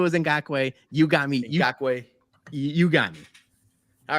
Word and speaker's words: Ngakoue: It is Ngakoue. I knew it was Ngakoue. You got me. Ngakoue.